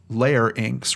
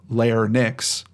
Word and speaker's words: larynx: this includes the pharynx larynx pronounced layer ink layer inks rather than layer nix i could be getting